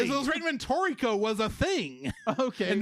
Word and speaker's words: Toriko: Anime episode of One Piece, which is a crossover between One Piece, Dragon Ball Z, and I'm probably going to mispronounce this word. Toriko. Toriko.